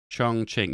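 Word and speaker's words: 重庆: Yeah, this capital, is this pronounced Chongqing? That's Qing. Chongqing, yeah.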